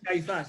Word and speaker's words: Caiaphas: Caiaphas? Sure. Good. Caiaphas.